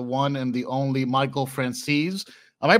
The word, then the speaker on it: Franzese: joined by the one and the only Michael francese am I pronouncing that correctly you are there you got